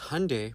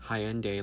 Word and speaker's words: Hyundai: Because Hyundai, pronounced like Sunday, not Hyendai like you're saying, is a Korean company.